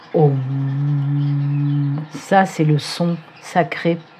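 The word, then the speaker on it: ॐ: le chemin oui le om om m on prononce om ça c'est le son sacré pour vous guider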